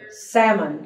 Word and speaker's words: salmon: don't want Iron clothes salmon there's no l in Salmon okay okay well now